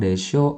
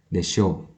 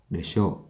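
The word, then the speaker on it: でしょう: Nah, pengucapan desho harus dengan intonasi rendah ya. Desho, desho, desho ya. Jadi jangan sampai intonasinya naik ya, jangan sampai mengucapkannya desho.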